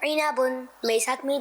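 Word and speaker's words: عِنَبٌ: उस फ्रूट की अरबिक है इनाबुन। मेरे साथ मिल के पढ़ें, इनाबुन इनाबुन इनाबुन। आइए इसकी हिज्जे भी कर लेते हैं। आइन जे ई, नून जबरना, इना, बा दो पेश बुन, इनाबुन।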